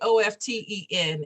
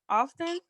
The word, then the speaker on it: often: uh say it again often oh austin miss b is it often often the t is silent yes well yeah and